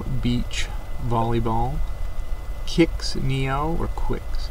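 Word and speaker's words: Qix: Volleyball, Kicks Neo, or Quicks. How do you say that one? Kicks or Quicks? I've always said Kicks.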